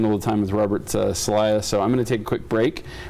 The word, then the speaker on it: Selliah: Selliah?